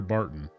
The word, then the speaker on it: Barton: Ah, you're Barton. Your name rhymes with carton of cigarettes.